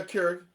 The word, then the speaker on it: Keurig: The Levo machine is kind of like, if you could imagine a Keurig? Yep. Am I saying it right? Yeah, Keurig.